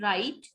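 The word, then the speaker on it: write: अब initial position में WR है तो हम W को नहीं बोलेंगे. Will speak it राइट.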